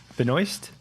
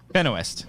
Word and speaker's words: Benoist: melissa benoist phenoist benoist benoist like moist i don't know about that uh cody cannon emily specifically says benoit's like the supergirl actress yeah yeah that's so it's been a west benowith i've been saying it right the whole time hell yeah yeah